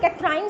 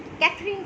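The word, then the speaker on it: Katherine: कुछ लोग कैथराइन से इसको प्रोनाउंस करते हैं और कुछ कैथरीन से करते हैं, तो इट्स ओके, ये कोई इतना ज़्यादा मसला नहीं है।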